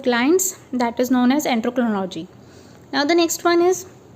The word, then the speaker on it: endocrinology: देखिए एंडोक्रोनोलॉजी, एंडोक्रोनोलॉजी, एंडोक्रोनोलॉजी, that is a glands study of glands or having a discipline study of glands, that is known as endocrinology.